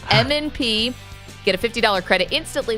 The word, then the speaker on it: M&P: Some people think that's pronounced MAND-P. It's not. M&P.